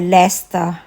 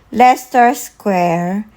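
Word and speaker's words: Leicester Square: ano 24 so ang pronunciation po dito sa lugar na to ay Lester Lester square kung mapupunta po kayo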